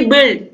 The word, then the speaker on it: build: ऐसे वर्ड्स को आप लिखिए जिसमें यू क्या हो, साइलेंट हो, जैसे कि बिल्ड, BUILD होता है, लेकिन इसको हम बिल्ड पढ़ते हैं, ऐसे ही बिल्ट है, BULT।